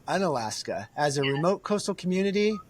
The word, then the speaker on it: Unalaska: Uh the original native name is Unalashka. So throughout the years um they shortened it for pron pronunciation. So um the native name is unalashka and uh now it's an Alaska but a lot of people know it as